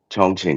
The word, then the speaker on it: Chongqing: Oh, it's pronounced Chongqing though, right? Chongqing.